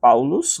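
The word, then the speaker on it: Παῦλος: A primeira estrutura está escrito Paulos apóstolos, né? Paulos, né? Apóstolos em grego. Você vai pronunciar com esse som, esse som de s no final, né?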